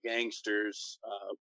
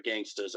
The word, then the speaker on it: Gangstas: It's tag team the Gangsters. Or the Gangstas, I should pronounce it correctly, were one of the